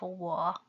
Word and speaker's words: 我: The Zhuyin phonetic symbols of 我 are 乌 plus O plus the third tone equal to 乌 O 我我 the third tone 我.